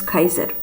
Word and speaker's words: Caesar: And this is Cleopatra and Caesar. In Latin, in the, how do you say, formal Latin or traditional Latin, Caesar was, the way you said his name was Kaiser.